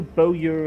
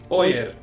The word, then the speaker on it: Bowyer: No Bowyer and Bowyer would be in a ruined building like this.